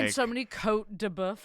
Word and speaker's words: Côte de Boeuf: Dianes, and it's just like And so many Côte de Boeuf. How do you pronounce that?